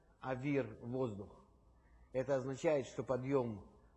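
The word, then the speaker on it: אוויר: значит свет произносится ор если в это слово Свет включается буква юд то это уже называется воздух и произносится Авир то есть это как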